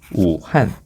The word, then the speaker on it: 우한: 자, 근데 이게 우리말로는 무한이지만 중국어로는 이렇게 됩니다. 우한. 우한이라고 발음하기 때문에 이 우한이라는 명칭이 온 거죠.